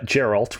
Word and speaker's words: Geralt: through the game uh geralt with a hard g it encounters one of